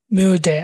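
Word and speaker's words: müde: পারেন ইস বিন মিউডে, এম ইউ ডি এ ডে, মিউডে। উমলাউটের উচ্চারণটাও গুল করা হয় না, উ উ এরকম, উ উমলাউট, তাহলে মিউডে এরকম করে বলতে পারেন।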